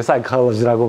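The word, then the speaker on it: psychology: 그래서 이제 사실은 뭐 영어식으로 해가지고 사이콜로지고 사실은 뭐 그릭 이렇게 그 어원상을 따져가지고 그릭으로 읽으면은 푸시케죠? 그러니까 아주 틀린 건 아니에요. 그렇지만 이제 영어식으로 우리가 발음하는 게 통상적이니까 이제 사이콜로지라고 발음하죠. 그리고 이제 여러분들이 아는 것처럼 사이콜로지라는 게 뭐예요?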